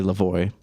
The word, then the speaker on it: Lavoie: Is it French? It is. Yeah, it's French. Yeah, it is French. So, but it's not wrong to say Lavoie. Yeah. Because that's not the French pronunciation.